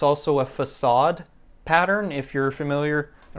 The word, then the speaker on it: facade: there we go the fake aid pattern if you want to pronounce it incorrectly but it's actually facade because it's originally a French word but so essentially what